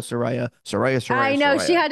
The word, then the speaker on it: Saraya: get people to understand her name is Soraya we gotta call her Soraya Sariah I know she